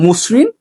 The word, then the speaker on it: মসৃণ: 4 নম্বর নিয়ম, শব্দের শুরুতে যদি অ থাকে এবং তারপর রিকার যুক্ত ব্যঞ্জন বর্ণ থাকলেও সেই অ এর উচ্চারণ সাধারণত ওকারের মতো হয়, ঠিক আছে। যেমন শব্দের শুরুতে ও আছে, পরে রিকার আছে, যেমন মসৃণ, তারপর বক্তৃতা, ঠিক আছে।